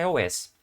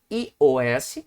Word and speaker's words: iOS: Isso são dados de julho de 2022, é Android, e 28% é iOS, ok? Ou iOS, você pronuncia em português, ou iOS, em inglês.